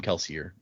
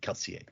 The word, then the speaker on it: Kelsier: this would be like Kelseier. Oh, but no one says it like that. Kelseier. like we we even Brandon in interviews and stuff calls him Kelsier, but uh technically the pronunciation would be Kelseier.